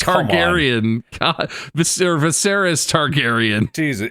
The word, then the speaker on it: Viseris: Mark, you could be Viscerous Targerian. Oh my god. Viserious Targaryen. Ver Viseris Targaryen.